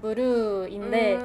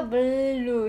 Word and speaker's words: BLUE: 되게 일본어로 하면 그냥 무르인데 여기에 무르. 입도 이렇게 옆으로 이렇게 하면서 물루 이렇게 해야 되고 약간 L 발음 해야 된다고 하셨으니까 그게 되게 너무 어려웠어요.